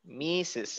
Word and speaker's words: Mrs: but kind of careful this is mrs right not mr again how do you pronounce this one mr white mrs mises mrs mrs white okay again